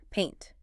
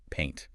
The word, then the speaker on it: paint: You start with an A sound and glide to an E. E. Paint. It rhymes with saint or faint. So, if you want a beer, do your jaw. Pint. If you want to decorate a wall, keep your jaw tense. Paint.